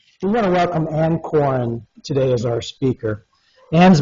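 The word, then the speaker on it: Coren: My name is Anne Corin. That's um pronounced it's C O R E N, but it's pronounced corn like corn on the cob.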